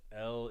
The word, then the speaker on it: L: And yes, L is my last name. And it's pronounced just like the letter L.